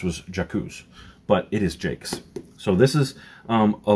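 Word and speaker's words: Jacques: written by brian jakes for years i thought it was jakku's i thought it was like a very french name but everyone i've heard actually pronounce it other than just me reading it off the page is jake's so i was looking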